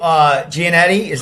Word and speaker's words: Giannetti: And you got Joe Giannetti. Did I say his? How do you say his last name? He's Joe. Giannetti.